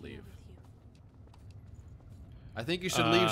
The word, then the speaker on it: Liev: I think in Wolverine it's pronounced leave I think you should